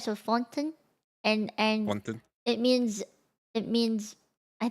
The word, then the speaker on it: Fontaine: This one, Fontaine. Because it's French. Remember, it's That's the French. only meme I know. It's Fontaine is French. Okay, gotcha. Fontaine. It's supposed to sound like it's French. So Fontaine, and Fontaine.